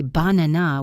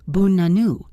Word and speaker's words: banana: For example, in the word banana, we do not say banana with 3 clear A sounds. We say bunanu. The first and last A become the lazy schwa sound.